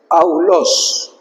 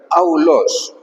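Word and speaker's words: αὐλός: Aulos. Así se pronuncia. Esto es importante entenderlo. Aulos.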